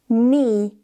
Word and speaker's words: knee: If you see K and N at the beginning of a word, the K is silent. So the word knock is not pronounced as knock, but knock, knock. No, knee, knowledge.